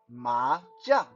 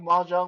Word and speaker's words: mahjong: In Mandarin, how you say mahjong is mahjong. Yeah, you guys, you guys think mahjong was a special English word? No, it's just a word taken from its actual Chinese pronunciation, mahjong.